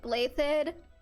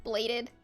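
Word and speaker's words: Blaiddyd: So I know that his last name is pronounced like Blathed. I can't be the only one who, in my head, just is bladed.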